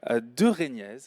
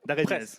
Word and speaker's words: Daraignez: Ce sera aujourd'hui avec notre intervenant de la matinée, Louis de Régnez. Je prononce bien ? Presque, d'Arénez.